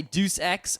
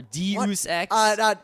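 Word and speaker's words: Deus Ex: in D Machina yeah apparently some people say dece X or de X or day of sex ninth grade Greek literature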